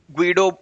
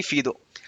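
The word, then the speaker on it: Guido: जी यू आई डीओ ग्वीडो बोलेंगे बहुत लोग बट वो डच थे तो डच प्रोनंसिएशन इज मोस्टली फीदो तो ठीक है अभी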